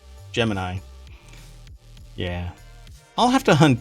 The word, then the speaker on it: Gemini: stuff oh they spelled Jiminy Jiminy they spell Jiminy gem thinking of Jiminy Cricket every time I know yeah that's why I said not jimin as in Jiminy Cricket Gemini yeah I'll have to